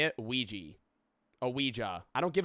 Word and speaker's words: Ouija: Like if I could only buy a Ouija board at like if I could only buy